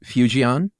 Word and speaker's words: Fujian: Well, I heard it pronounced as if it had a Y in there almost, like few. Okay. Uh Fu- Fujian.